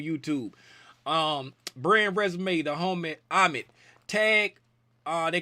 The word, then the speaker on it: Amit: Tag because he say the way to remember how to say his name, say if you playing a game of tag, if I come and tag you, who's it? Amit.